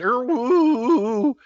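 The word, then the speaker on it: IRRRRRWW: But then the second one is spelled I-R-R-R-R-R-W-W, which is pronounced er-woo.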